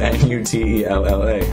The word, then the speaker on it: Nutella: No. It's spelled N-U-T-E-L-L-A. Nuts, N-U-T, Ella, Nutella.